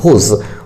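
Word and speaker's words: whose: हुज, मालिकाना हक जानने के लिए इसका प्रयोग किया जाता है। ठीक है, हुज, क्या पढ़ेंगे इसको, हुज। ठीक है, हुज, यहाँ डब्ल्यू साइलेंट है।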